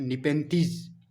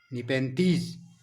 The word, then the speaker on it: Nepenthes: इसका botanical name है निपेंथीज। तो इसकी स्पेलिंग भी आप नोट करिए, NEPENTHES, निपेंथीज।